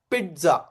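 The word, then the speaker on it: pizza: पिझ्झा आणि हे जे पिझ्झा बोलतो ना आपण त्याच पण प्रोनन्सिएशन कस आहे माहिती का पिझ्झा पिझ्झा पिझ्झा ट येत त्यामध्ये ओके पिझ्झा ओके यावरती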